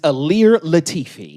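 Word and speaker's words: Ilir Latifi: That is Alir Latifi.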